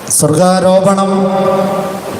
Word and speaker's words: സ്വർഗ്ഗാരോപണം: മാറുക പരിശുദ്ധ അമ്മ സർവ്വതന്ത്ര സ്വതന്ത്രയായി മാറിയതിന്റെ ആഘോഷമാണ് സ്വർഗ്ഗാരോപണം സ്വർഗ്ഗാരോപണം എന്നാണ് മറിയത്തിന്റെത് പറയുക അതേസമയം ക്രിസ്തുവിന്റെ സ്വർഗ്ഗാരോഹണമാണ് ഈ വാക്കുകൾ തമ്മിലുള്ള ഉച്ചാരണ വ്യത്യാസവും അർത്ഥവ്യത്യാസവും ഒന്ന് ഓർത്തിരിക്കുന്നത് നല്ലതാണ് ക്രിസ്തുവിന്റെ സ്വർഗ്ഗ